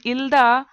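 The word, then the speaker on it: 읽다: In if it is a simple in il-da, the ka is silent. It just il-da.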